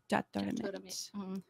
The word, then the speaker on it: Jaturamitr: How do you pronounce that band? Jatramit.